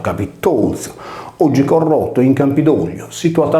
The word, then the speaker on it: Capitolzu: Il Cabizuso trova riscontro nel Capitolium, pronunciato Capitolzo, oggi corrotto in Campidoglio, situato a Roma presso il Colle della Velia, proprio là dove era situato il tempio agli dei penati.